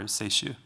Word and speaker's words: seishu: Sake in Japan is nihonshu or seishu, which is more difficult, obviously, for us to pronounce.